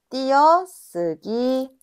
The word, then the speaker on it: 띄어쓰기: 무니는 무니 발음이 되고 예를 들어 띄어쓰기는 어떻게 발음이 될까? 자음이니까 그치 뛰어쓰기.